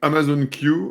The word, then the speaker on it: Amazon Q: vos services exactement donc Amazon queue on va utiliser la la prononciation anglaise a été la première